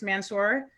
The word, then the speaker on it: Mansur: So I am here talking with His Grace Mansur. Did I pronounce that right?